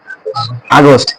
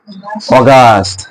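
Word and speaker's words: August: আগস্ট July এর পরে আমরা জানি আগস্ট এবং উচ্চারণও করি আগস্ট কিন্তু ওরা উচ্চারণ করে বিটিশরা অগস্ট অগস্ট ওরা উচ্চারণ করে অগস্ট এখন আগস্টের পরে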